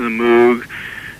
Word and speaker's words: Moog: I would call it a moog too. I don't know whether to call it a moog or a moog. I call it a moog, but I think it's supposed to be pronounced moog.